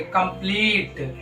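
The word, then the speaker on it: complete: तो ई साइलेंट होगा जैसे सी ओ एम पी एल ई टी ई इसको क्या पढ़ेंगे कंप्लीट इसको क्या पढ़ेंगे कंप्लीट कंप्लीट इसको रेट इसको गेम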